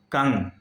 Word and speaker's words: कं: इसका उच्चारण होता है कंग। जब क के ऊपर वह अनुस्वार लग जाएगा तो उसका उच्चारण होगा कंग।